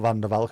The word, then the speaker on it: Van der Valk: Is V always pronounced as an F in Dutch? It is, and W is pronounced as V, which is slightly confusing. So Van der Valk is not Van der Valk, it's Van der Valk.